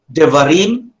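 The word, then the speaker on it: דברים: So, devarim, devarim, that's the tone. Now, the va there is the pretonic, and the de there is the propratonic. So, a pretonic syllable is 1 syllable before the accent.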